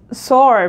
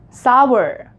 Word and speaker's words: sour: sour grapes grapes are sore people say that right so no this is not sword this is sour sour so the correct pronunciation of this word is sour grapes are sour not sore this is not sore